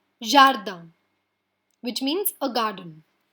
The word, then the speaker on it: jardin: Jardin. It ends in a consonant, so we are not going to pronounce the N. Jardin, which means a garden.